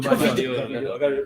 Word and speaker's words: Gvardiol: And I think when City bought Gavida, how's the pronounce his name? Gvardiol.